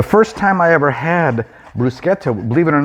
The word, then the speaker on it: bruschetta: So first of all, yeah, it is bruschetta. It's not bruschetta. That's kind of the American pronunciation, but it's bruschetta.